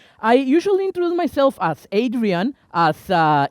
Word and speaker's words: Adrian: have found out that easier to say my name as in Spanish Adrian so that's my name